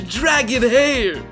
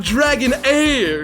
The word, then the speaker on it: Dragon Hair: I've got some luscious dragon hair. What? Oh! My producer's telling me that the H is silent, and this is all about Dragon Air, Styling Gods, the must-check-out RPG of 2023.